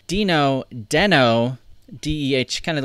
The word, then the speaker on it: Deno: may have been noticing I'm calling it Dino in not den oh that was one thing that a lot of people had mentioned in the comments so that I was mispronouncing Dino so I went back